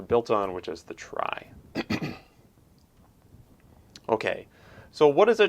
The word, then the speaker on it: trie: retrieval and so like it seems like it ought to be pronounced tree but it's not it's pronounced try and a try is a tree that